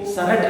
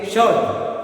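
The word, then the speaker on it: shirt: ठीक है, तो आर के पहले अगर कोई वॉल है तो उस आर को अपन क्या रखेंगे, साइलेंट रखेंगे, यानी कि इसको शर्ट नहीं बोलेंगे, क्या बोलेंगे, शर्ट।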